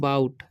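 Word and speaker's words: bought: ठीक है, GH का उच्चारण यहाँ पर नहीं होगा। ठीक है, तो इसे पढ़ते हैं हम बाउट।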